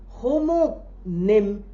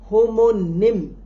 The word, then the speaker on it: homonym: Homo means exactly the same but we have a different addition to the prefix homo and that is homonym n y m nim like antonym synonym etc.